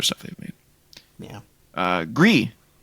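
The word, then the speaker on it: Gris: they the other stuff they've made yeah uh gree it's coming to PS4 and PS5 I said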